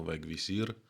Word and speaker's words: Vegvisir: інша назва вегвісір читається англійською так само вегвісір також відомо як компас